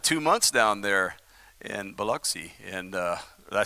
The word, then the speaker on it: Biloxi: me i spent two months down there in biloxi and uh did i say it right yeah